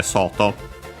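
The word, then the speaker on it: 外: But yeah, the saw uh is sto uh on its own actually should be accent on the first motor. Uh so yeah, sto uh yeah on its own outside exterior.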